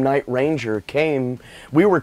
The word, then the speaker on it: Night Ranger: which martha quinn calls it night ranger accent on the first one and everybody else is like night ranger it's like what is it is it night ranger or is it night ranger it's like that's a that's a tricky one there jack blades from